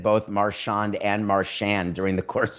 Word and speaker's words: Marchand: He puts the emphasis on the first the mar. syllable.